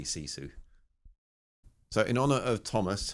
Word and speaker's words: sisu: I did check Google Translate and apparently it's pronounced SISU, but I'm a parochial British idiot, so I'm going to say SISU.